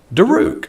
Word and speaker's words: Daruk: earlier but i forgot it's it's pronounced like it's spelled it is cali daruk i remember now i